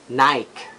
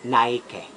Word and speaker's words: Nike: And the most common error, especially sa mga Filipino, ang pag-pronounce natin ito is Nike. Nike. And it should be Nike. Ang tamang pag-pronounce should be Nike.